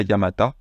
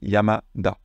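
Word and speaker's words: 山田: Mais dans le nom, on ne dit pas Yamata, on dit Yamada.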